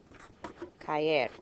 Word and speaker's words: caer: Caer, 2 syllables, stress here.